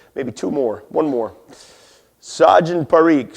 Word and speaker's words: Sajan Parikh: Sajan Parikh. So like a saw and you're drinking gin.